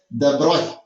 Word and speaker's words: de Broglie: But it is pronouncing like this way. De Broglie. Okay, it's called de Broglie. Okay, like that. It is de Broglie.